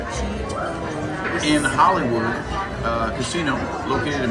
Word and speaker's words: Gitto's: Gitto's. You gotta pronounce it right. Gitto's.